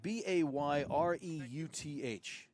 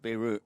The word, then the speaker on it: Bayreuth: He's going to be happy on his trip back to, Steve, how do you say, is it Bayreuth? B-A-Y-R-E-U-T-H. It's not Beirut. No, it's not.